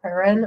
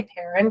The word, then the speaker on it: Perron: And the oldest daughter, Andrea Perron, or Perron, Yeah. I don't know how to say the last name, so I'm going to say Perron because that's how they say it in the movies.